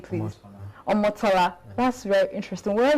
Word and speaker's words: Omotola: Pronounce the name, please. Omotola.